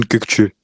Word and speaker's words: Kökçü: Donc, Orkun Koksu, je ne sais pas déjà si je le prononce bien. Déjà, si tu peux me reprendre là-dessus. Non? En turc c'est Orkun Kökçü.